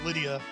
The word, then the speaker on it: Rydia: Yes, chat, this is Rydia country. And that country is probably actually Lydia. But I'm gonna stick to the traditional pronunciation.